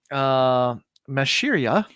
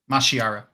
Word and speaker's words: Mashiara: And those chapter titles are Mashiria. Mashiara.